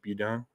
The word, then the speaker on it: Beaudin: Budan at the opp I think that's how you say his name you down b-e-a-u-d-i-n he pronounced it police aren't able to